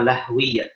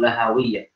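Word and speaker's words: لهوية: Al-qabuhunna asyratun jaliyah fa ahruful jawfi ismuha jawfiyah wa ahruful halqi ismuha halqiyah wal qaf wal qafu huma lahwiyah atau lahawiyah, bisa dua cara baca.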